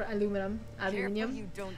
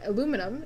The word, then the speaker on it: aluminium: For aluminium, because that it boggles my brain because you're not saying it wrong if you say aluminium. That one. You're not. But then if you say aluminum, it's the same thing. Okay. You're just enunciating things differently.